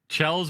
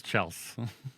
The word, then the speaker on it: Chels: Chels with a Z is not the right way. It's Chels.